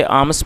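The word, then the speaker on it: alms: दोस्तों ए एल एम एस इसमें L silent है तो हम इसे आर्म्स पढ़ेंगे और इसका मतलब होता है भीख भिक्षा उसे आर्म्स कहा जाता है।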